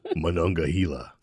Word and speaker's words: Monongahela: No, Monongahela. Yeah. So if you know what Monongahela is and can spell it correctly, leave us a comment.